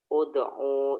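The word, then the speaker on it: ادع: Ud'u ila sabili rabbika. Iya. Kenapa dibaca U Zaki Rashid? Karena huruf ketiga berharokat dhammah, Ustaz.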